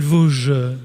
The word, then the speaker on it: Vauge: retour sur le plateau en direct avec Émile Vosges, je prononce bien?